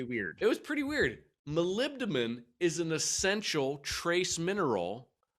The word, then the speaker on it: molybdenum: time well hold hold on james it's called molybdenum that was really really well done see how